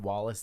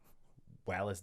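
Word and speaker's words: Wallis: is at wallace day i i'm assuming that's how you say it i haven't seen anybody pronounce it any other way it's w-a-l-l-i-s so uh she's british or so maybe it's wallace wallace day um but she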